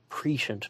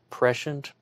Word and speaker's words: prescient: actually some type of patient knowledge as um they uh talk about in this book um oh but fun fact that word actually has four acceptable pronunciations prescient patient prescient and prescient and um yeah anyway but